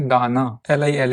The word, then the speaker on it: दान: जिस वोवेल पर भी यह शॉर्ट डश लगा है उस वोवेल को you have to pronounce it little लगर। For example this is pronounce as दाना।